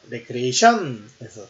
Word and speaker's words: 레크리에이션: 리크리에이션, 발음의 악센트가 앞에 있고 개조, 재창조, 새롭게 만든다는 뜻입니다. 리크리에이션, 이게 창조한다는 뜻이고요. 레크리에이션에서 발음이 악센트가 뒤에 있고 오락, 유희, 소창, 취미, 휴양, 위안, 기분 전환의 뜻이 있습니다. 리크리에이션의 뜻과 레크리에이션의 뜻이 좀 다르죠. 발음의 악센트가 앞에 있냐 뒤에 있냐에 따라 틀립니다.